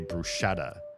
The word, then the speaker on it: bruschetta: When I heard Americans say bruschetta, I was like, there's no sh in brushetta. Where are you getting the sha from? If you look at how it's spelled, there's no sh in the word. So, where are you pronouncing it?